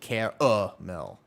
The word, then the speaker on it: caramel: So, I like some salted car mill. Better. It's pronounced car mill like that.